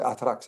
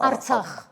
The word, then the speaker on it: Artsakh: vous l'appelez comme ça, vous prononcez Atrax, hein, Artsakh. Artsakh. Artsakh, pour récupérer l'Artsakh, le seul cas possible serait une guerre.